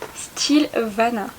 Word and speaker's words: Stylevana: suis quelques petits produits qui vient du site style vana si je le prononce comme il faut et je vais vous